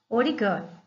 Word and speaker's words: origami: Ori significa dobrar e kami, papel. A pronúncia junta os dois termos origami.